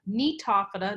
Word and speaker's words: Gnetophyta: The Coniferophyta, Cycadophyta, Gnetophyta, the G is silent, and Ginkgophyta.